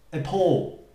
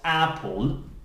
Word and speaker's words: appall: It's important because the word appall is pronounced appall, appall, and not apple, apple, okay?